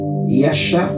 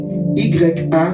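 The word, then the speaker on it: ישע: Et j'ai dit que le mot salut vient du mot hébreu Yasha, donc il s'écrit Y-A-S-H-A.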